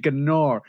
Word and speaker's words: Gnar: Yeah, the G is silent.